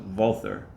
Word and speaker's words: Walther: Show you what comes in the box and talk about some of the performance of the Walther, or correctly pronounced Walther PDP.